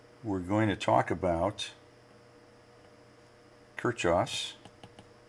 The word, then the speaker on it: Kirchhoff: going to talk about kirchhoffs it's actually double h it's a uh unusual pronuncia spelling k-i-r-c-h-h-h o f f